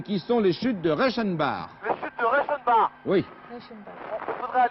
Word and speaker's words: Reichenbach: C'est comme ça que ça se Oui, prononce. Reichenbach.